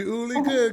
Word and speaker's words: Uli: It's just that I didn't know the pronunciation. Hello. Yeah, I know you, Uli.